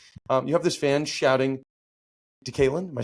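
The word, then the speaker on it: DeKaylin: You have this fan shouting, Decalen.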